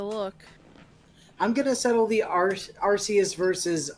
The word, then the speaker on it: Arceus: I'm gonna settle the Arceus versus Arceus debate right now. It's actually Arceus, like you pronounce the end of it like Zeus, except with a C in the front.